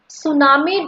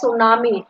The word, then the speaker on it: tsunami: Then the next one, tsunami destroyed many houses. Children, here you see T is given in the beginning, but T will be silent. Okay, we read it as tsunami.